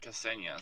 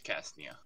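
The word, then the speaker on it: Cacnea: with a crown on said call it Ksenia so yeah that's how you pronounce it yes no it's cast Nia check me out okay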